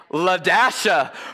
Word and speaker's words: LaDasha: That's not how you say it at all. You know how to say it? Say it with me. LaDasha.